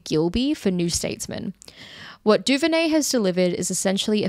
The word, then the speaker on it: DuVernay: DuVernay. Yeah, DuVernay. As far as I know. What DuVernay has delivered, this is a review left by Ryan Gilby for New Statesman. What DuVernay has delivered is essentially a feature-length screensaver which